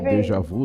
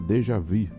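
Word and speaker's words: déjà vu: história eu até pronunciava eu até pronunciava Dejavu né mas é dejavi é Dejavu é escrita mas dejvi né que tem um biquinho porque é uma pronúncia francesa que é já vum né Eu já vi então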